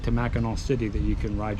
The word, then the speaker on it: Mackinac: So we found out, even though Mackinaw Island is spelled like Mackinac Island, it's pronounced Mackinaw.